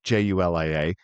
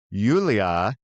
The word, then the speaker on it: Yulia: Uh, Julia, well, it actually looks like Julia, Julia, but it's pronounced Yulia.